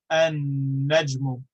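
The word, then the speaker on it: النجم: just give an example we have albeit we pronounce the lamb because the ba is sufficiently far away or different from the lamb whereas an ejmu the star we merge the lamb into the noon because the noon is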